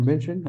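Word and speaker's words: München: a um Dev Summit Munich in Germany or menion as it's pronounced and then of course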